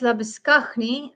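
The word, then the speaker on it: Labuschagne: Marines Labisknney, that's how you say his name in South Africa.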